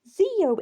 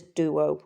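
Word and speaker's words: δύο: Theo in modern Greek because the D is more a the and softer and the opson is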